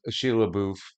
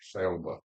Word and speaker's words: Shia LaBeouf: ones with Sheila LaBeouf and Shia LaBeouf. Charlotte. Is that how you say it? Yeah, Shia LaBeouf.